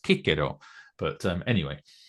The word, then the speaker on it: Cicero: that should be pronounced Kiko, but um anyway, that's very Italian. Yeah, apparently the C is not pronounced like an S at all in in Latin, but and the V is not pronounced like a V either.